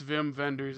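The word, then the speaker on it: Wim Wenders: time and everything and when I realized wait verer oh it's Vim vendors isn't it okay that makes sense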